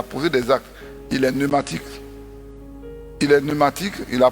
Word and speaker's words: pneumatique: Il y a un P au départ, mais on prononce pneumatique, on ne dit pas pneumatique.